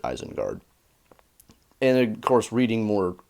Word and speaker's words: Isengard: word actually so yeah it would be a sin guard and that's just so dumb sounding everybody knows it's eisenguard Tolkien pronounces it eisengard and of course reading